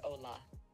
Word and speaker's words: hola: saying it out loud It's pronounced like Ola how did it go did you feel feel comfortable with the pronunciation hola perfect hola sound a